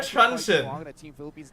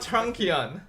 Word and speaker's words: Truncheon: It's Winter Truncheon, not Trunkion.